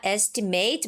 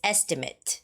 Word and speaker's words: estimate: It's not estimate, but like you said, it's estimate. So, it's more like mit estimate. Estimate. Okay. The stress is on e E. So, it's estimate.